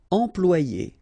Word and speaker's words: employer: Employer, remember, M, and then after that you've got a consonant, so it's here, it will be a nasal, so it will go like en, employer, employer.